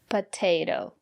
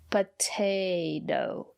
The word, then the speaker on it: potato: at this word potato the first letter T is pronounced as T because the syllable after the letter T is stressed potato and the second letter T is pronounced as a fast D potato because the syllable after the second letter T is not stressed potato I love potatoes